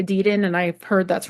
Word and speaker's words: Edidin: And Jay Edidin, is that how it's pronounced, Ian? Yeah. Okay, because I know some people say Edidin and I've heard that's wrong, so Edidin.